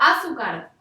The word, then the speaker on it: azúcar: Yo digo azúcar. No. Digo azúcar. Por lo tanto, esta es una palabra grave que termina en R.